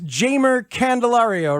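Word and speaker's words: Jeimer Candelario: we have you directly it is jamer candelario right because it I remember we we all got the uh the pronunciations wrong at the very beginning your first time around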